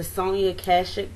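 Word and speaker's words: Sonia Kashuk: like this this is the sony cut the sony akashic brush is how you say it the regular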